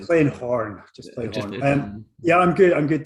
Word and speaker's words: Horne: Today, I'm joined with Horne. You don't pronounce the E at the end because that sounds a little bit lewd, right?